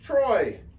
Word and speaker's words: Treu: is oi Deutsch Freud so guess what this is pronounced Troy okay and so for